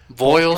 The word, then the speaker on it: Voiles: forget about Vol Trucking is that bright pronunciation boil Trucking yes boil Trucking I'm sorry yep